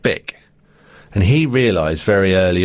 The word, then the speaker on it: Bic: was bish bich but in german it's pronounced bick and he realized very